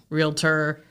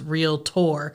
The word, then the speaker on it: realtor: tell me for the longest time how to pronounce that because I always said realtor realtor and it's real tour yeah my friend would correct me all the